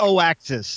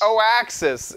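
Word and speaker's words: Oaxis: It's like O-axis. O-axis. It's like oats and axis. You know, came together.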